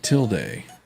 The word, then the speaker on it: tilde: pronounced tilde.